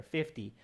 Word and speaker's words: fifty: it's 50 pounds five zero fifty pounds the registration fee is fifty pounds fifteen there's a long e sound there fifteen and this is fifty fifty there's a d sound there fifty so 2050 okay i